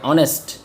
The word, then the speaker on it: honest: এই যে এখন দেখো এখানে বললাম HONEST, এটা কিন্তু হনেস্ট বলতে পারবে না, এটা হবে অনেস্ট। অনেস্ট মানে ওখানে বাউল আইছে। এখন দেখো তুমি এইচটা কিন্তু সাইলেন্ট থাকলো, এইচটা কিন্তু উচ্চারণ করবো না, লেখার সময় কিন্তু এইচ দিতে হবে ঠিকই।